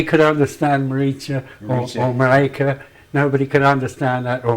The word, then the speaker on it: Marika: Pronounce it Marika again. Marika. Marika. Yeah. Marika de Groot. Yeah, but if you want to get closer to her and say it with more endearment, like, it's Maricha. Maricha.